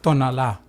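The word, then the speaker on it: Tonalá: Edwards tonala from so tonala it has the accent on the last a tonala um so we have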